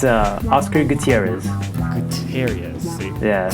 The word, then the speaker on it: Gutierrez: Yeah, you got to roll them. So if I say it the right way, it's Gutierrez. Gutierrez.